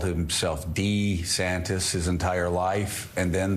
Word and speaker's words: DeSantis: watch he called himself D santis his entire life and then the last year he called himself da saddest it's kind of kind